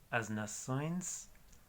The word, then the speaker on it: nações: Y ese sonido es como oins, O-I-N-S, O-I-N-S. Por ejemplo, las naciones, as nações, as combinações y un montón de plurales.